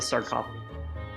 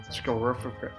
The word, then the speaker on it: sarcophagus: We're gonna open the sarcophagus, not scrorophagus.